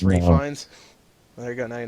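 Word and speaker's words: Ralph Fiennes: yeah you didn't know that Ralph fines is pronounced Rines there you go now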